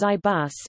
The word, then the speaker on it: IBus: the intelligent input bass Ibis pronounced as IBUs is an input method